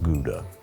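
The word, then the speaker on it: Gouda: shred some of this which is the proper pronunciation of guda I'm going to toast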